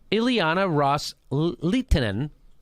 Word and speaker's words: Ileana Ros-Lehtinen: Qataris Sunni Arab states had made to Representative Ileana ros-lehtinen that's how you say her name quote with